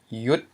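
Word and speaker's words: ຢຸດ: We have the mid consonant y plus a short vowel u and ends in a dead consonant, a dead syllable, which is a stop. It's the t. So we have rising tone yet again.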